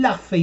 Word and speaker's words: Luffy: i'm gonna be drawing i'm gonna be drawing luffy from one place la fey may lafay the